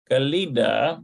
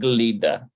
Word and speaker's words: גלידה: Okay, so Shamati, no, it says Shemti. It's probably Shemti. Shemti. Yeah, Shemti Galida. שמתי גלידה במקפיא, שמתי גלידה במקפיא, Looks like it's Samti Glida.